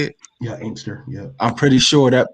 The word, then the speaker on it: Inkster: Yeah, Inkster.